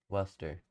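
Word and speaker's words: Worcester: I don't know how to pronounce the names. Havville, Massachusetts. That real quick for you. Worester.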